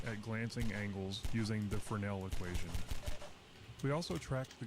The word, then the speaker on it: Fresnel: I just learned that it's pronounced Fresnel, so that's neat.